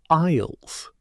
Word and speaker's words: aisle: We don't pronounce most of those letters.